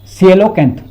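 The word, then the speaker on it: coelacanth: ए एन टी एच कौन सा silent होता है कोई पता नहीं चल है ना सीलो कैंथ which was thought to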